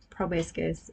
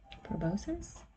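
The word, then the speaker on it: proboscis: about among the flowers, poking Oh, poking its probiscus. Sorry, I don't know how to pronounce that correctly into them.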